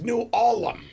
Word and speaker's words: New Ulm: You said it wrong. It's New Ulm.